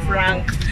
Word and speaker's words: FRNK: Sabi niya, Frank. Sabi ko, wala ba talagang A yun? Sabi niya, opo, wala. Wala talaga.